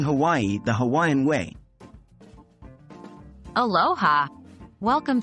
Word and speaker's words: Hawaii: pronounce Hawaii in the Hawaiian language you need to break it down into syllables with each vowel pronounced separately so we have Hawaii